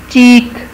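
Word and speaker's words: chalk: चीक, चीक, चीक कहते हैं गाल या रुखसार को। और ये क्या है? चाक, चाक में एल साइलेंट है, इसमें आवाज़ नहीं आती, स्पेलिंग में लिखते हैं।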